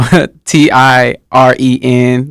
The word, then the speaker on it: Tyren: Okay, my youngest son name is spelled Tyren. Oh, okay, yeah. I just tell people Tiren, like to pronounce it.